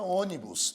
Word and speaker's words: ônibus: mais forte por exemplo a palavra ônibus é uma palavra proparoxítona por que proparo sídon porque o assento tônico a sílaba mais forte é a antepenúltima o assento tônico ocorre